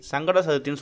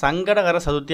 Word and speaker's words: சங்கடஹர சதுர்த்தி: நாள்தான் சங்கடகர சதுர்த்தி தினம் பாதி பேர் சங்கடத்தனியா சதுர்த்தி தனியா பிரிச்சு சங்கட சதுர்த்தின்னு சொல்றாங்க அப்படி சொல்றதே ஃபர்ஸ்ட் தப்பு முழுமையா சங்கடகர சதுர்த்தி அப்படிங்கறத சரியா உச்சரிக்கணும் அப்பதான் நம்மளோட சங்கடங்கள் நம்மள